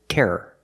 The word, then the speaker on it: terror: The second word is terror. Two syllables.